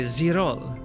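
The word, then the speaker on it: girolle: Correct pronunciation of Girol? Wait. Zirol? How do you say that word? So it's French? Okay, Zirol. So it's French, and you pronounce it as Zirol.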